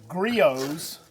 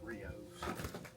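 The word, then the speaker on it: Griot's: we use the the Grios ceramic coating. What did you say? I thought it was BR. Yeah, I think it's pronounced Rio, but you can are welcome to pronounce it any way you would like.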